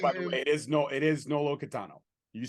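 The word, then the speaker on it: Nolo Kitano: And you said it right, by the way. It is Nolo Catano.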